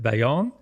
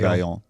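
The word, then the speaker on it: Vallon: me with the pronunciation it's v a l l o n is it Bon probably yeah probably Von yeah V like one syllable somehow V somehow if you can do it so um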